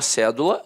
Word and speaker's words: cédula: Aí, a palavra cédula, notoriamente, é uma proparoxítona. A sílaba tônica está na antepenúltima sílaba.